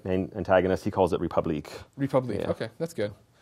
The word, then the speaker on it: Republique: Is it Republic? It's Republique. Okay.